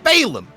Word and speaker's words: Balam: spelled b-a-l-a-m Balaam balam all incorrect apparently it's Balaam well it depends on